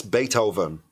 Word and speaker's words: Beethoven: And then over, pero con N. Con N. Bait. Oven. Beethoven.